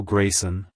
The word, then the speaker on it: Graysen: Canada it's pronounced as Grayson Grayson Grayson to pronounce it correctly emphasize the first syllable gray and the S at the end avoid blending the two syllables together like hello Grayson goodbye Grayson if you